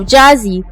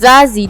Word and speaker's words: Jazzy: According to Jay-Z, the Z in his name was inspired by a childhood nickname of Jazzy, which was often mispronounced as Zazzy due to his distinctive Brooklyn accent.